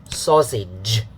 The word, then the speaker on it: sausage: It's the ch sound. This one is the j sound. Okay, they make a pair. It's just like the s and the z pair. Same way of pronunciation, of making the sound. Okay, almost same way, except you have to add your voice. So j, okay, not ch. Sausage, yeah, and the vowel is the short a.